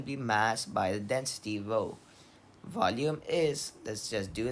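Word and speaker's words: rho: write this Greek letter Ro r h o Ro that's how it's pronounced but it's written somewhat like a p so row that's the density is equal to M by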